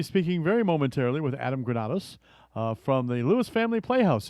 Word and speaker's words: Granados: And so I'm glad for our next guest to invite him in and welcome Adam Granados. Did I pronounce that right? Yes, you got that right.